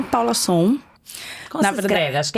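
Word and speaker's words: Sohn: Paulinha é Paula Som. Como se escreve? Acho que é importante, que a galera... Som é tipo som. Som é tipo, Som. Paula, som. É o bullying da vida, né? Mas escreve S-O-H-N.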